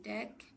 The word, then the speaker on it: deque: Jadi the queue atau dibaca deck, dibacanya deck atau double ended queue adalah